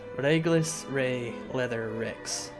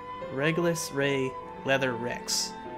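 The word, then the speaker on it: Regulus Rey Leather Rex: See, I still can't say Rex. I keep wanting to say Lex. Because, you know, the Japanese R's are kind of pronounced like L's. So I keep wanting to say Rex instead of Rex.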